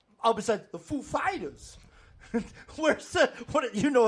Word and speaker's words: Foo Fighters: Where's the accent or whatever? Is it on the Foo or the Fighters? Yeah. The food fighters. You put the emphasis on the wrong syllable. Foo Fighters. That's the best. Ladies and gentlemen, the Foo Fighters. Girl, which one is it, girl? It's on the Fighters.